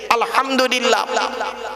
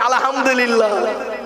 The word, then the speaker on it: আলহামদুলিল্লাহ: সূরা ফাতিহা পড়তে গিয়ে আলহামদুলিল্লাহ, আলহামদুলিল্লাহ, এই গলার ভেতর থেকে এটা উচ্চারণ করবেন। হায় হুটি হায় হব্বাজ নয়, আলহামদুলিল্লাহ মানে হচ্ছে সমস্ত প্রশংসা আল্লাহ তোমার। আর আমরা উচ্চারণ করি কি আলহামদুলিল্লাহ, এর মানে শুনবেন সমস্ত ছেঁড়া জামা কাপড় আল্লাহ তোমার।